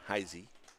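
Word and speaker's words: Heise: say taton heisy heisy spells his name HEI SE pronounced heisy 31 pitches now for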